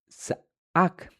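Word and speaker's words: za'aq: En el antiguo hebreo o en el hebreo original, la palabra menudo usada es za'ak, que se escribe de la siguiente manera, es Z-A-A-Q, que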